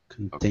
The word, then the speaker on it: contain: Contain. Okay. Mislead second syllable stress. Yeah, a couple of verbs again. Mislead, contain. Again, not always, but very common to have that second syllable stress.